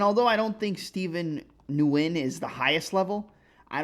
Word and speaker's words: Nguyen: I believe it's Nguyen.